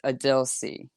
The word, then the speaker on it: Adil C: And I'm really hoping that I can't wait to just let everyone know, be like, this is the official way to pronounce Adil C.